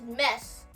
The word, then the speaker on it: mes: So, you can see this word is mess. Mess. Mess. Which means fixed and open here. This word is fixed, but I had to open your mouth.